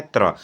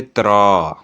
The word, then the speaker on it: त्र: त, र, अ से मिलके बना है त्र। अच्छा बोलते वक्त भी आपके उच्चारण में आता है। कैसे आता है? जैसे आप बोलेंगे त्र। तो त, र, अ, त्र।